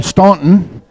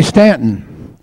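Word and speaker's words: Staunton: here in Stanton Virginia that's spelled s t a u n t o n which US Yankees call ston but they say Stanton so don't ever let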